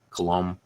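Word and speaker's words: Colomé: have got a Danny Colombe. I don't know how you say that dude's name. Apparently you don't pronounce the bay at the end of it. Colombe.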